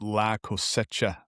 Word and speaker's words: La Cosecha: market is pronounced Lacoseta, not just like I just said.